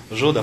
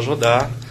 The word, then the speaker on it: Judá: fala tora fala Torá a gente não fala juda fala Judá não fala Jesus fala Jesus